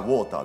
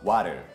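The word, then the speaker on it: water: 別れですよね見た目から想像される音がボーターですよねしかし実際の発音っていうのはワルワルそうなんですこれ t ではなく d なんですねそう見た目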